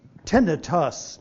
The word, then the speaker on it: tinnitus: So tinnitus, and I emphasize tinnitus, US at the end, is the preferred pronunciation. Itis, I-T-I-S, is the common ending in medicine for an inflammation. This is not an inflammation.